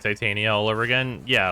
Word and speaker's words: Titania: to tell you like Titania all over again yeah like you're supposed to say it like to Tanya or whatever but like it's Titania that's that warframe's name what's up babe you